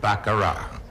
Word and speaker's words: baccarat: all over the world we still pronounce it the way the french do baccarat the t is silent and it's a lot